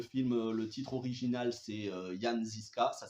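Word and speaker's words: Jan Žižka: films médiéval le film le titre original c'est yaniska ça s'écrit Jean zisca en France a été renommé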